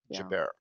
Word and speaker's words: Joubert: right is how you say your name and Jabbar yeah Jabbar it's a beautiful name you are a wonderful